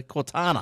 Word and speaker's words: Cortana: how you pronounce it it's not called tina is it it's not a little it's not the little Zippy Cortina it's a Cortana Cortana are you on slide